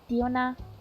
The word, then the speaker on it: Diona: Ona, not Ano. Diona. That's how they say it in Chinese, like the Chinese voice.